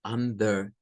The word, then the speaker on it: Under: sílaba entre ellas tenemos la palabra Under no es un derbi es Under Under que es para decir